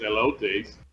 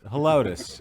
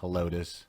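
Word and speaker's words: Helotes: i could be wrong i don't think it's hellots no yeah it's hellotus that's what i think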